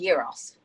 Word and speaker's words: gyros: Is it pronounced gyro or gyro? It's called gyros.